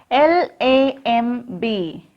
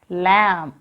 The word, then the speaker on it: lamb: L-A-M-B, lamb. Repeat it, lamb. It is not lamp, it is lamb. Repeat it, children, lamb. Here, B is silent.